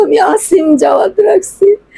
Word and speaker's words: আসিম: সব সময় দেখতেছি ফেসবুকে বিভিন্ন চ্যানেলে আমার ছেলের নাম হচ্ছে আসিম জাওয়াদ, আমার বাবার নামটা আমি রাখছি। সবাই বলে অসীম অসীম, এগুলো সবাই মিডিয়াতে বলতেছে অসীম অসীম, আমার বাবার নাম তো আমি আসিম জাওয়াদ রাখছি।